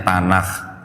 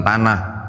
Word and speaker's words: Tanakh: Kitabnya orang Yahudi namanya Tanakh. Bacanya harus sedikit beda nih Bu, bukan tanah, tanah.